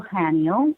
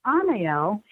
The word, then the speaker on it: Anael: We are back, and we are talking about Archangel Anael, or Anael, and it's spelled Anael.